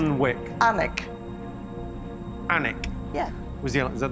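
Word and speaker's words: Alnwick: correct answer ion it's actually alwick but it's pronounced alwick anic anik yeah was he is that the right answer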